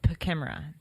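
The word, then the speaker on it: PKEMRA: It's called Pachimera. Post-Katrina Emergency Management Pachimera? Reform Act. Yeah. Spell that.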